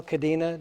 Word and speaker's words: Cadena: And so we have two guests today, Max Stinson, Cadena. Did I do it pretty good? Pretty good. Pretty, oh, help me out. What's better? No, cadena. Cadena. Yeah, it's a Spanish pronunciation.